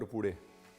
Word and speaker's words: पूरी: Now, let’s get back to making the puris. Do you guys say “puri” or “pudi”? Among Punjabis, it’s usually pronounced as “pudi.”